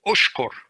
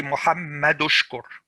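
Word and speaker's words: اشكر: You don't pronounce the hamza, this hamzatul wasl, you don't pronounce it unless you're starting to read from this Hamza. So if I'm starting to read from this Hamza, I would say Ushkur. I pronounce it Ushkur. But if I don't start from there, I have another, it says Muhammad, okay? Muhammad Ushkur. I don't say, I say Muhammad Ushkur.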